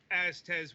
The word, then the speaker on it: Aztez: And no, we didn't mispronounce that. It's Azte with, you know, Z's.